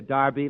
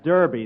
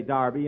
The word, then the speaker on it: Derby: at the Santa Anita Darby last Saturday bill that's Derby the English say Darby and the Americans say Derby yeah and the losers